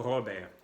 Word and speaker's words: Robert: La T no se pronuncia. Se va a pronunciar solamente si al final se agrega una E para ser femenino. En francés es así, una E al final es el femenino, en español ponen la A, en francés la E. Y si habría la E en final, podríamos pronunciar la T para ser Robert por una mujer. En el caso de un hombre es Robert.